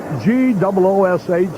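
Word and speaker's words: Gwosdz: have this name spelled G-O-O-S-H, the phonetic spelling, rather than all the S's, W's, and Z's? Gives him some character, though. G-W-O-S-D-Z is the spelling, but it's pronounced goosh.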